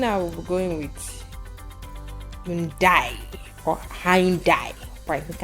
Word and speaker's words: Hyundai: So can you please pronounce it properly? Okay. Let's see. Looking at what we're going with Hyundai or Hyundai.